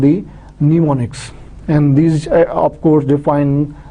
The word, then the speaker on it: mnemonics: This M is silent. M is silent, so it will be mnemonics. So you can pronounce mnemonic.